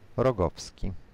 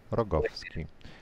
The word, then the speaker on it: Rogowski: Why don't you say it? Rogowski. Rogowski. Rogowski. Stress on the second last syllable.